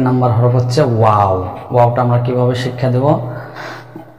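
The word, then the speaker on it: واو: একথা বলে ওস্তাদ হরফের নামের মশক করাইবে যে ওয়াও। ওয়াওটা কিভাবে উচ্চারণ করতে হয়? 2 ঠোঁট গোল করে 4 এল পরিমাণ টেনে উচ্চারণ করতে হবে।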